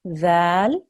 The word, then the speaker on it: ذال: everybody at home, that when we do this letter, dhal, we have to touch our tongue, the tip of our tongue, to our front top teeth. Okay, and that means that we'll be pronouncing the letter correctly.